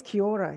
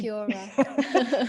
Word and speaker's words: Kia Ora: Oh yes, Kia Ora. You have to. You Sorry, have to. Kiora. No, no, no. The Maori shearers are very keen on correcting me if I don't pronounce it properly.